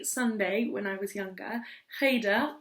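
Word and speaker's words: cheder: when I was younger Haider if you can't make that sound at the beginning heydo you can just call it Hader Hader and I went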